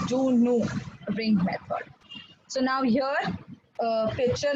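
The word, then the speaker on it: Du Noüy: Juno ring method okay it is not pronounced as Junoi ring method okay it's a French person it is pronounced as Juno ring method so now here picture में you all can see the apparatus, right?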